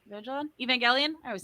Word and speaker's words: Evangelion: um like the uh the uh neon genesis evangelone virgil evangelion i always say it wrong um from now